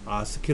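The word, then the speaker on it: ASCII: 8비트 에는 7 비트 아스키 는 이럴때 아스키 라고 읽어야 콩글리쉬 르 아메리칸 스탠다드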